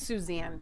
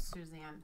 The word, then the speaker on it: Suzanne: TMZ caught up with Susan Summers. It's Suzanne. Whatever. It's pronounced Suzanne.